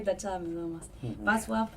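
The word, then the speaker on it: Wacław: Václav. Como si fuera B corta. Está bien, Václav. No, la L tachada me da más. Václav y él para mí.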